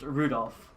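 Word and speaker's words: Rudolf: Anyway, this guy's name is pronounced Rudolph.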